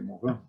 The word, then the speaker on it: Morin: Pois existe um antropólogo e sociólogo francês chamado Edgar Morin, se escreve Morin, assim fala, se pronuncia Morin, que diz que o Brasil é o país da solidariedade, já desponta como o líder mundial da solidariedade.